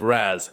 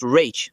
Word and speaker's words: Ra's: My father's name is pronounced Rach, not Raz.